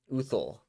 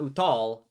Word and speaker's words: Uthul: his name is uthul wait i did not uthul not uttal uthul he's a uh he's